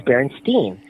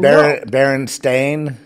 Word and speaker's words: Berenstain: thought he wasn't saying it right it was berenstein he said that that was in uh 2007. over ten something years ago he said he said baron stain he corrected me i said berenstain bears it